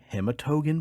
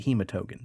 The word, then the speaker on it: Hematogen: of the confectionary delight known as the hematogan bar no i should probably pronounce it hematogen that might give you